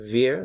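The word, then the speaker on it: wir: s is it via be careful with the pronunciation Veer like a w I'm sorry like an English via VIA and then Z also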